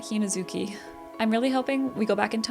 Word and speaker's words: Hinazuki: I keep saying her name wrong. I have been, haven't I? I've been saying Hinazuku. I think I meant Hinazuki.